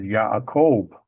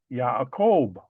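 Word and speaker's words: יעקב: But again in the Hebrew there is no J sound. So it is pronounced as Yakob.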